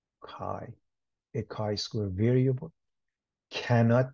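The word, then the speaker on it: chi: square is Kai Square the Greek letter Kai pronounced Kai a Kai Square variable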